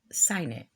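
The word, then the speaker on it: cygnet: black signate now actually had to Google Signet which is a young swan I think it's pronounce sign it well anyway it's the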